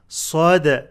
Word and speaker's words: صدع: ذاتي الصدع صدع صدع قلقلة اندال make the صد heavy and dal light with قلقلة.